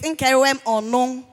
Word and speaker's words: Nkeruwem Onong: in the president of Nkeruwem Onong Sheyi. Please, note that pronunciation. It is Nkeruwem Onong.